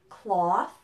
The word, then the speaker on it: cloth: the same sound so listen to all four words words cloth law bought and taught it's the a sound now the word clothes